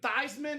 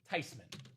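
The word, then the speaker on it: Theismann: Grandma said, "No, it's not even Thyman. It's not even Theman." The proper pronunciation rip. Tyman. Joe Tyman.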